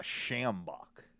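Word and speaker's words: sjambok: and i think i'm going to get a schambach have you have you seen it do you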